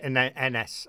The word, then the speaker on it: Ynes: Ines. And it's spelled YNES.